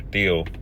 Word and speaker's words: Thiel: So, as you can see here, Peter Theal or Peter Thiel, I believe, is how they pronounce it.